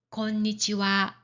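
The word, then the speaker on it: こんにちは: 자 그리고 한 가지 더음 인산말로 쓸 때도 하를 어 하로 발음하지 않고 와로 발음합니다. 예를 들어서 어 낮에 하는 인사 권니치와 그리고 저녁에 하는 인사 건방화 이런 경우도 와라고 발음합니다.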